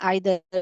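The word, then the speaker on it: either: इधर का और ये हो गया, इधर भी बोल सकते हैं आइधर भी बोल सकते हैं, दोनों प्रोनाउंसिएशन करेक्ट है बेटा।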